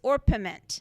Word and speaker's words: orpiment: It's orpiment. Now, I did look up the pronunciation of this, and it's pronounced, everybody pronounces it different ways. So, orpiment.